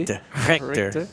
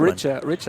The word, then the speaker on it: Richter: Richter. It's a hard Richer. I like Richer as well. Yeah, Richer's fine.